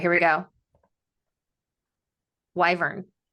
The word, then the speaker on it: wyvern: Doing pronunciation. All right, here we go. Wyvern.